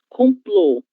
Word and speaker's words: complô: Complô, sílaba tônica plô.